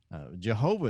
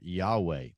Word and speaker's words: Yahweh: Jehovah is not actually a real word. That's actually a mispronunciation of the word Yahweh.